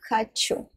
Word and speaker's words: хочу: Я хочу.